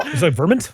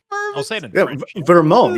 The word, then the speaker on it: Vermont: You had problems pronouncing the word Vermont today. What? Really? Wow. Verment.